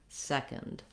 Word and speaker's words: second: no vowel at all go right from the k to the nd second and stretch out be long on your first syllable then when we get